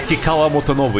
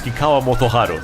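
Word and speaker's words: Kikkawa Motoharu: another name wrong everyone it's not Kwa motovo it's Kwa motoharu sorry I need to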